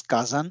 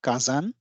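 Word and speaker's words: 火山: so uh the word the pronunciation is Kazan actually Kazan so here is this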